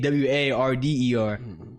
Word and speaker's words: water: But it's spelled WATER, but we say WARDER.